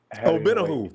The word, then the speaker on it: Omenihu: Charles Omenihu. Omenihu, that's how you pronounce it.